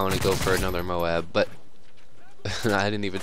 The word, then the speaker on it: MOAB: online get a hundred and oh and four moabs that would just be great uh but yeah